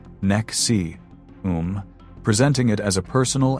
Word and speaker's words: NXIVM: In 1998, Raniere founded an organization called NXIVM, which is pronounced Nexium, presenting it as a personal and professional development program.